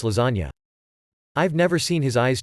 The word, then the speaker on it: lasagna: I would intentionally mispronounce lasagna all the time in front of my brother, pronouncing it laszagne. He'd correct me every time, then eventually gave up. Then one day he says, "Want laszagne for lunch?" To which I reply, "It's pronounced lasagna."